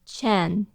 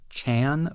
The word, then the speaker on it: Chan: that in the movie Amo says it more like Chen on my part just out of force of habit based on the way it's spelled in English I have been calling this character Chan for a really long